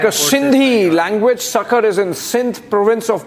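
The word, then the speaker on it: Sukkur: Sakar, not Sakar airport. Sucker airport. Yes. Uh the pronunciation is sucker.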